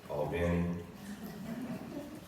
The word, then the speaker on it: Albany: That's Albany, Georgia, but they pronounce it Albany or any any other place that you have a recollection of?